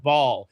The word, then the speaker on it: Baal: And a lot of people are like, "Oh, that's Bale." No, it's pronounced ball as in play ball.